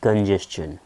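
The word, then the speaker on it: congestion: অফ কথার অর্থ হচ্ছে প্রায় লিড টু ট্রাফিক কনজেশন এর উচ্চারণ হচ্ছে বাবু কনজেশন সি ও এন কনজেস জি S just টি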